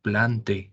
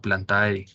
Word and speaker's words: Plantae: borrosas y otro detalle Recuerden que la pronunciación cuando está el diptongo ae en las palabras de los taxones se pronuncia como e Entonces es el reino planta no plantae es la familia angiosper más angiospermia no angiospermae por ejemplo o otro